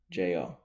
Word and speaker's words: Ijo: It's spelled IJO, but like I said, uh, it's you say it like EEJO.